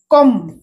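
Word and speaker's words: comb: পাঠা ছোট্ট ভেড়া সিন্তি কম বি সাইলেন্ট কম চিরুনি চিরুনি তারপরে দেখুন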